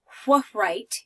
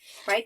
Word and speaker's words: write: name on your paper I don't say what write your name right the W is quiet the e makes the I long and I say right please write your name